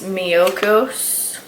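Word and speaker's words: Miyoko's: Another butter that I have been trying is this Miyokos, that's how you say it.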